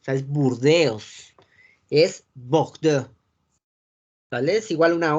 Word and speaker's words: Bordeaux: O por ejemplo la palabra Bordeaux. Esa es como un poquito más nasal.